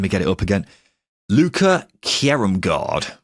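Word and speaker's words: Luca Kjerrumgaard: Sorry, just give me a quick pronunciation. Let me get it up again. Luca Kjerumgaard. Kjerumgaard.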